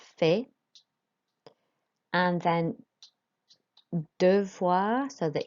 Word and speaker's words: fais: So you'll notice with that, the S is not pronounced on fait.